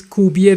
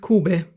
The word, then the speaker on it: Kube: So that's why I said is Kube. Then I also said is kubie because that I think that's the way we say it in Russian, and so that's why I said that.